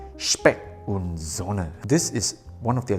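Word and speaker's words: Specht & Söhne: Now it does sound like this is a German sounding brand, so let me try to pronounce it the German way, Specht Sohne.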